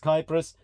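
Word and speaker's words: Κύπρος: As in the Greek, it's pronounced Kypros, but the Cypriot, or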